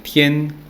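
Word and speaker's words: 天: Esos conceptos en idioma chino se pronuncian Tian, Ti, Ran, Tian para cielo, Ti para tierra y Ran para hombre.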